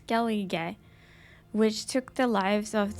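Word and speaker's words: Skellige: from sintra to Skelly how did she pronounce it it's Kelly gay which took the lives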